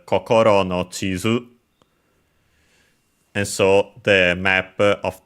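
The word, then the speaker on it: 地図: I think an accented, I'll check just to be sure. Nope, it's actually accented, so Chizu. Also pretty sure there's an opening of One Piece that's called Kokoro no Chizu.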